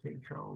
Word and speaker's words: Tatro: Mr. Tatro long A.